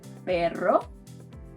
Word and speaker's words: perro: The second sound is called a trill. It's basically a double R, and you'll find it in words like perro, perro, dog.